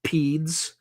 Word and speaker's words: PEAD: So there are also things Davis referred to that are called PEDS. It's spelled Papa Echo Alpha Delta, PEAD, and they stand for Presidential Emergency Action Documents.